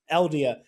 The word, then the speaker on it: Eldia: Eldia.